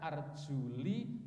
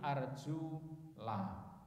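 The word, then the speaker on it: أرجلَ: Kaki ini tidak arjuli tapi arjula.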